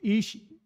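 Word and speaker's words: אִישׁ: up a blonde brunette uh man uh is pronounced ish and the woman ishal uh basically the man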